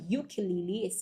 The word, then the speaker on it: ukulele: But for the beginning sound of ukulele, it starts with kind of Y.